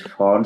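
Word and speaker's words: Pfund: Cell number 5, Font series. P is silent.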